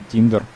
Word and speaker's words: тиндер: ещё одну ещё один тиндер р Она правильно читается так и мы погнали дальше